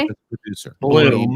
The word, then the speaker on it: Blum: Bloom. Name 2 of And the it's films pronounced Blum.